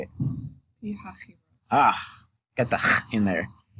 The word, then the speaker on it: Pi-Hahiroth: Pi-Hahiroth.